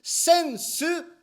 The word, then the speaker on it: sensu: repeat after me in japanese we call this sensu excellent pronunciation especially in japanese people in english we